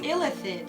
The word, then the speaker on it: illithid: neophthalate the methylene neothalid that's how i think it's pronounced no it's illithid a lipid is their